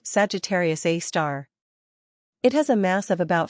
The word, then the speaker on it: Sagittarius A*: The supermassive black hole at the center of our own Milky Way is called Sagittarius A*, pronounced Sagittarius A star.